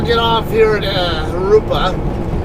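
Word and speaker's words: Jurupa: get off here at Harupa. Not Jarupa, it's Harupa. Those of you guys who are Spanish challenged, the J's in Spanish are pronounced like an H.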